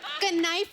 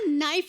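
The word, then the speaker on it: knife: कनाइफ नहीं होता नाइफ होता है। केस साइलेंट रहता है।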